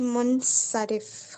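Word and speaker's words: منصرف: अराब लगाए हुए हैं ठीक है मैंने गलत प्रोनाउंस किया था गैर मुनसरफ होगा मीम के ऊपर पेश नून पे जजम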